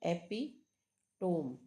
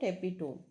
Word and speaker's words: epitome: is epito epitom right epitome but sound is not epitome sound is epitom so epitom so epitome you just remember